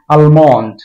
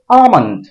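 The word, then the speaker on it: almond: এটাকে আমরা উচ্চারণ করি আলমন্ড মানে বাদাম এই আলমন্ডটা গুল উচ্চারণ এটার উচ্চারণ হবে আমন্ড আ এটার উপর চাপ দিতে হবে মান্ড মান্ট মুখটাকে জাস্ট বন্ধ করে ছেড়ে দিতে হবে মান্ড আমন্ড আমন্ড এটাকে আমরা উচ্চারণ করি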